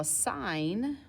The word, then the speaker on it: sin: our angle so now sine written as sin is pronounced sine it is your opposite